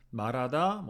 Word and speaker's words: 말하다: 말하다, 방송 이런 장음 같은 거 잘 눌러서 지켜주시고요.